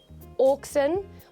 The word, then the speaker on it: auxin: auxins is is or oxen is a plant hormone uh specifically a growth hormone now it is spelled Au oxen although it is supposed to be said oxen but say it as